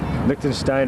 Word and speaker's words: Liechtenstein: I'm sure these people aren't from Liechtenstein, but Liechtenstein rhymes with 9.